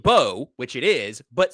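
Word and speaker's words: Mbow: What if I told you it was actually pronounced Bo, which it is, but spelled M W. N, sorry, MB O W. You think Mabo, that's not correct. It's pronounced Bo but with an M.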